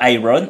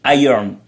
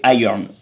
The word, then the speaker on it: iron: Parce qu'en fait, c'est le son IR qui fait le iron, et le ON, il se prononce à peine, il fait juste un N, comme ça, tu vois. Donc ça fait iron.